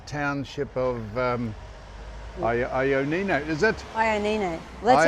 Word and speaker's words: Ioannina: Well, this is the entrance to the famous Ioannina Castle and Fortress.